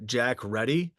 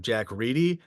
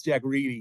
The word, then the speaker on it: Jack Ready: I called him uh Jack Ready. And uh I'm happy to update it to the correct pronunciation of Jack Reedi because only until recently I found only like